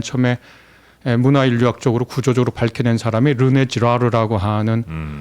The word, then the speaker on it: 르네 지라르: 관계됐다라고 이것을 맨 처음에 문화인류학적으로 구조적으로 밝혀낸 사람이 르네 지라르라고 하는 한 학자입니다. 아주 위대한 학자인데요. 지라르요? 네, 르네 지라르.